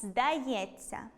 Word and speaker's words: здається: Пам’ятаємо, що буквосполучення “-ться” вимовляється як , це уподібнення за місцем і способом творення. Тому вимовляємо .